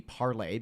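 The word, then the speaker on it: Parler: from what i understand it was launched to be parley because it's spelled p-a-r-l-e yeah the french version for speak to speak yeah and uh people just started pronouncing it parlor and it just kind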